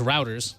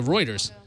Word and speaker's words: Reuters: this is from Reuters, which I always pronounce routers. So I was Routers. wrong. Yeah, the routers. Routers, right? Because the routers themselves are That's how they sentient. pronounce it in UK. Right. So Reuters, planet made out of diamond.